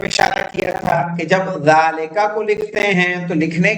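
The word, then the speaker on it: ذٰلِكَ: ذالکہ pronounced ذالکہ but it is written without الف.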